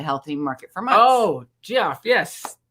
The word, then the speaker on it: Geoff: jeff how do you say jeff j g-e-o-f-f jeff what you said that last time we had